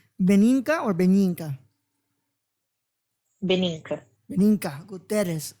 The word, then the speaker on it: Guterres: And obviously, I wasn't going to say Gutierrez, but it's Guterres, yeah. All right, you see, so I got it right. I got it right on the page. I knew how to say it. But that was you just have to scratch the R a little bit more, but Guterres.